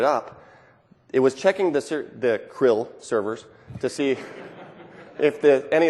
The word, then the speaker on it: CRL: Real certificate people pronounce it Krill, okay.